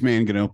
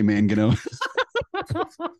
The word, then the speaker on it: Mangino: It's Mangino. Please say Mangino. Make my night. Dr. Mangino?